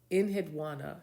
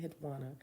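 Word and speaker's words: Enheduanna: Ed Inhadwana. That's how I say it. Inhana, but I'm going to spell it for you. E N H E D U A N A.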